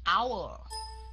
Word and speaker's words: hour: dấu nó ra cái dòng Nó Ok mình đọc là our Khi mà mình đọc our thì mình sẽ